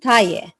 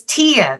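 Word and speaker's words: Tiye: I may be pronouncing it incorrectly, but Queen Taye, Taye. So it's Tia that you're asking me about.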